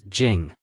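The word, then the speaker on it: 井: In Chinese, the pronunciation of royal mansion is Wangfu, and the pronunciation of well is Jing.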